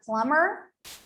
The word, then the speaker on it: plumber: explanations if you make a silent letter is a letter that is left unpronounced in a word it's as simple as that such as in the word plumber plumber or doubt doubt you simply don't make the sound of that letter you just simply don't mention it but it is not